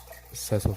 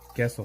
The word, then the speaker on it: queso: I just freaking just keep on going over and over again with Seso Fresco. Seso Fresco. Oh, queso fresco. Oh, queso is Q-U-E-S-O. Queso, right?